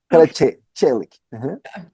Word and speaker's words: Karaçelik: My name is Heather Hurt with the NRW, or Nerds Rule the World, and I'm here with Tolga Karaçelik. I said it right? It's close. Karaçelik.